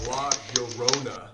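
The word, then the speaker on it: La Llorona: Oh, we went to Mexico City and collabed with FedEx and we learned all about La Yorona. That's her name. It's like Corona except Yona.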